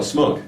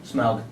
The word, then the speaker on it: Smaug: Well, Smug. Smaug. Smug. Yeah, you know, I had it down actually, the pronunciation, and then when you're rushing, you just forget.